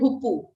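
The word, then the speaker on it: hoopoe: the name of this bird this is called hupu okay thank you these are spotted outlets uh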